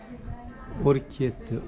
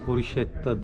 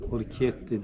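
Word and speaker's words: orecchiette: Orchiette, Orchetta değil, Orchiette diye okunuyor.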